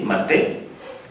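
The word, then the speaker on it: מטה: Pues la palabra vara en hebreo eh se escribe maté. M a t e maté.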